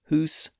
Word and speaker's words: house: They were originally pronounced hoose, moose, sooth, and coo.